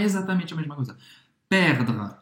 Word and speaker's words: perdre: A gente inverte o R com o E. E aqui o E no francês ele não vai ser pronunciado, tá? Ele é realmente ultra discreto. Então, termina a tua pronúncia no R, perdre.